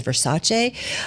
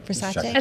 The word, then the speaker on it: Versace: You may know it as Versace, after agreeing to a price of nearly $1.6 billion. So, what's it called? Versace. Versace? Did I say it wrong? Versace?